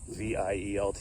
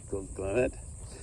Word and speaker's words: Glenlivet: How you pronounce it? Glenvielt or something. Glenlivet.